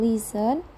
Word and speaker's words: listen: Examples of silent letters in English are the letters B in subtle, C in scissors, G in design, T in listen, and C in talk.